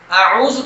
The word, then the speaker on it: اعوذ: اعوذ تھوڑا سا مشکل اس طرح سے ہے کہ اس کا پہلا لیٹر آ ہے، آ، اور اس کے ساتھ ہی اگلا عین ہے، اور عین جو ہے